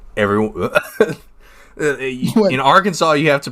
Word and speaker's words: Arkansas: And there's one that's like more like everyone in Arkansas you have to pronounce Arkansas at Arkansas.